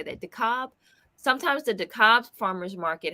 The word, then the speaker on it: DeKalb: DeKalb.